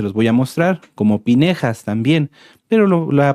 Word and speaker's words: Pinjás: está como les decía se traduce como finés pero no es correcto lo correcto es pinjas pinjas así se pronuncia pinjas